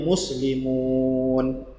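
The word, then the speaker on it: مسلمون: Kalau ada waw mati, sebelumnya ada huruf berbaris depan, maka waw menjadi simbol panjang. Bacanya jadi muslimun. Bukan muslimun lagi, tapi muslimun.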